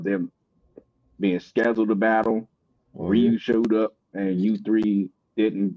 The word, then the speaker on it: Ryu: Is that how you pronounce it? My bad. I thought it was Rayo. Is it Rayu or Ryu? I I Street Fighter character, ain't it? The street fighter character is actually pronounced Ryu.